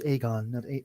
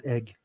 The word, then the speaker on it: Aegon: When they're leaving, after like they're away, he says his name is Aegon, not Egg.